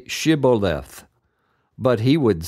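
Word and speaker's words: shibboleth: said no they would tell him to say shiboleth but he would say sioth because he could not pronounce it correctly then they would grab him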